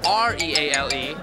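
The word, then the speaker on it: Reale: Okay, because it's spelled N-E-A-L-E, and my last name's spelled R-E-A-L-E, and it's Real.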